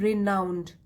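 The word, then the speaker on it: renowned: इस वर्ड की प्रोनाउंसिएशन है रिनाउंड।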